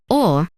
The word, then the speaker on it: ㅗ: When you say or, your jaw and lips move downward.